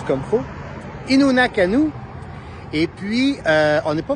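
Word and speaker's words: Innu Nikamu: Faut que je le prononce comme faut. Innu Nakanu.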